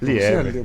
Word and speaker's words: Lieber: Lieber, isso. Porque a pronúncia em alemão é Lieber, né?